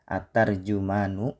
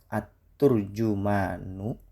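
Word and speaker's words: ترجمان: Para ulama membahas cara baca lafaz ini. At-tarjumanu dengan fathah dipilih oleh An-Nawawi. At-turjumanu dengan doma dianggap lebih enak secara bunyi. At-tarjamanu disebutkan oleh Al-Jauhari. Tidak ada riwayat kuat yang menyebut bentuk at-turjamanu sebagai bacaan sahih.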